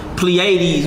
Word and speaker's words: Pleiades: How you pronounce it? Arcturus. Orion. Pleiades, which is the 7 stars, and when you get into Enoch, it's actually talking about 7 planets that wander.